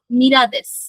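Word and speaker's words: ミラー: গুলো দেখি, ওয়াতাশি ওয়া মিরাদেস একজনের নাম। ঠিক আছে? আমি মীরা বা মিলার, এটা হচ্ছে মিলার, মিলারটা জাপানিজ উচ্চারণ হয় মীরা, ঠিক আছে।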